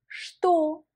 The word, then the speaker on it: что: Pour dire que ou quoi, on emploie en russe что. Что. Vas-y, prononce avec moi. Что. Et fais attention, on écrit ch-t-o, mais cependant ce mot-là, il faut le prononcer comme что.